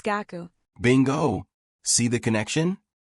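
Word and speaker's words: 学: Okay, the word for study. In Chinese, it's che. In Korean, Hack. And in Japanese, it's gaku.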